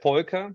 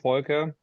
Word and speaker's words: Volker: Okay, so it's Volker. So it's a German name, Volker.